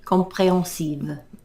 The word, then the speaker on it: comprehensive: speech bubble comprehensive they comprehensive pronounce the h comprehensive you can liaise between